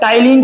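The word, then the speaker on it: ptyalin: ठीक है, टाइलिन की स्पेलिंग पी से शुरू होगी, ध्यान रखना आप।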